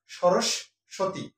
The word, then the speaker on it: সরস্বতী: সরস্বতী আমরা উচ্চারণ করি সরস্বতী অর্থাৎ মাঝের সটাকে দুইবার উচ্চারণ করি অর্থাৎ এখানে দুইবার না